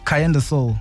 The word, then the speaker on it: Karyendasoul: So you are, how do we pronounce the name? Is it Karyendasoul or is it Karyendasoul? Karyendasoul. Karyendasoul. Yeah. Oh. Okay, because I've been saying Karyendasoul because it Same looks here. like a Karyen.